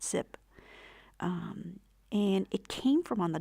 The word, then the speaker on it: XYP: So this is a tangle called XYP, it's spelled X Y P, and it's pronounced zip.